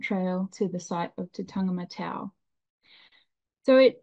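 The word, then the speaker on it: Tataga-Matau: hiking the ancient trail to the site of tangam matau so it it's pronounced tangam matau and it was probably a record number of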